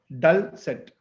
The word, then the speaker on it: dulcet: master as word master i introduce the word dulcet it's pronounced as dull set it's an adjective and